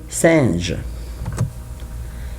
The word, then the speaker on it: singes: Also in singe, I don't pronounce E and S, E and S.